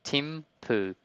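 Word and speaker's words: Thimphu: right and I um I looked at the pronunciation and it's literally Tim poo and I like that's pretty fun that's that's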